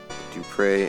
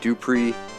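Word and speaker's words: Dupre: these over here for D pre and YOLO YOLO man when I was younger I originally pronounced his name IO I pronounced it dpri shamino and IO but it's dpre shamino and YOLO long before the acronym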